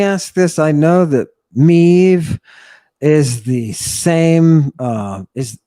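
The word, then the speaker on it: medd: the old Welsh meth modern-day Welsh Mev which is spelled me Double D and Breton Mez so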